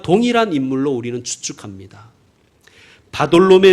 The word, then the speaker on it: 바돌로매: 동일한 인물로 우리는 추측합니다 바돌로매 는 이름이 아니에요 다 끊고 돌로 메 라고 읽으셔야 됩니다 돌로 메 아들이 란